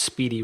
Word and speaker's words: SPDY: it last year sometime I thought it was Spidey spdy for those that are listening at home and don't have access to the to the show notes pronounced Speedy right here on the executive